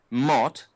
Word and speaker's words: mot: Mot. Mot. The French say bon mot. M-O-T. They don't pronounce the T, but the word in French for word is mot.